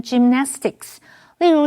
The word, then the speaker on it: gymnastics: Alright，继续我们看的是 gymnastics 这个名词。Gymnastics 是指体操或者是体操运动。注意它的字尾虽然有 s，但是它是一个不可数名词，而且它的重音是在 na 这个音节念成 gymnastics。例如 Shirley started to show great talent both in figure skating and gymnastics when she was little.